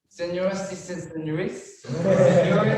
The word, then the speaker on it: Señoras y señores: 처음에 인트로에 나오는 발음이 너무 어려워가지고 그것만 1시간 동안 녹음했던 기억이 있습니다. 너무 힘들었어요. 한번 알려주세요. Señoras y señores.